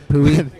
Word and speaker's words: Poway: It's pronounced Poway, by the way. They got that wrong. Oh, yeah, They taught you guys sorry, correctly. yeah. I wouldn't know. Pooey.